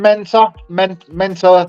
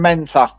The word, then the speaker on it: Mentor: Adam Mentor. Oh, okay. No, Don't ask me to spell it. I've got dyslexia, but it's M-A-T-A, you'll say. No, it's M-A-N-T-A.